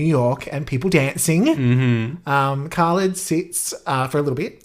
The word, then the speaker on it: Khalid: No, it is Khalid.